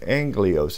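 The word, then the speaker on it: ἄγγελος: I need to be able to type in anglios is how it's pronounced a-g-g-e-l-o-s is transliterated a g g e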